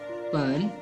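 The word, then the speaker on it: 本: The Meyer word of book is known as pen. This is third tone. Pronunciation again. Pen.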